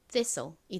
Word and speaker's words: thistle: 여기서 T가 묵음으로 소리가 나지 않죠.